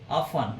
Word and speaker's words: often: Next है दोस्तों ऑफन. इसको ऑफ्टन भी बोल देते हैं, कुछ कई जगह प्रोनाउंस करते हैं इसका ऑफ्टन, and somewhere we यूज ऑफन.